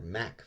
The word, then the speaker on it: Mach: It's kind of funny how whenever we say ah, as in Mach, Brits say ah, as in Mac. But if we say ah, as in cast, they say ah, as in cost.